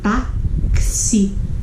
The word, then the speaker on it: táxi: Porque o X, ele tem um som de KS, como tá aqui, ó. Táxi.